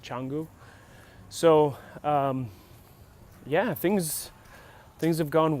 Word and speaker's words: Canggu: It's Canggu, but it's like Canggu, but I think they pronounce it Canggu.